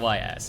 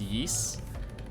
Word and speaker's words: Ys: recently i finished ys i keep saying ys it's it's pronounced yeast um well i got